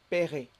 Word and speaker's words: paierai: Pour les verbes qui se terminent en yé, YER, généralement, le Y devient un I. I. Et le E ne se prononce pas.